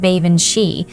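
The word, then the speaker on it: Baobhan Sith: Baobin Sith, he pronounced it like Baven She, and that reminded me of the name Banshee. My mother had told me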